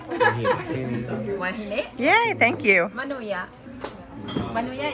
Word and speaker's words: Huahine: Huahine.